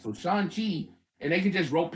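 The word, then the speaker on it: Shang-Chi: 30 bloody years wait it's not strong there's no g in mandarin sean sean there's no g in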